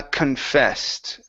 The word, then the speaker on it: confessed: um next is uh confessed all right right here so on the co n change that to con she confessed she confessed okay